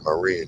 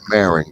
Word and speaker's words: Marin: go on the other side there you're in Marine County or Marin County as they call it but it's pronounced uh Marin and that's where Vish Shakur